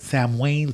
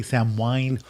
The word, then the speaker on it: Samhain: All right, so that is the earliest thing I could find on Halloween was this thing called, it's spelled Samhain, but Samhain. Some people say Samhain.